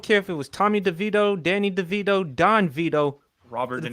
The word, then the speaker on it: DeVito: game and we lost Tommy is crazy Tommy deito is crazy you sayoo whatever you want to